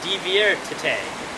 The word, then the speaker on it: diviértete: And to have fun would be diviértete with an accent on the E.